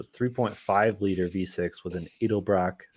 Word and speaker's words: Edelbrock: 2gr fe so 3.5 liter v6 with an edelbrock is how you say it supercharger edelbrock four